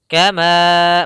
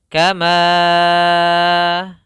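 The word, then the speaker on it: كما: Panjang hukum mad ini adalah 4 harokat. Panjangnya adalah 4 harokat. Dalam riwayat Imam Hafiz an Asim. Kama, maka kita bacanya seperti ini. Kama 4. Jangan terlalu panjang, jangan sampai 6. Jangan dibaca kama. Nah, ini terlalu berlebihan. Yang mana cukup 4 saja.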